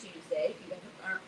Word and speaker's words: Toosday: today her name is Tuesday I've been following me her name is Tuesday it's spelled t-o-o-s-d-a-y because she did and